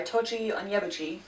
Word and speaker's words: Tochi Onyebuchi: They are Beasts Made of Night and Crown of Thunder by Tochi Onyebuchi, and that is how you pronounce his name because I looked it up so that I didn't butcher it.